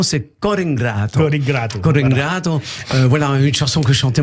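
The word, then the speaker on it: Core 'ngrato: En fait, la prononciation, c'est Cor ingrato.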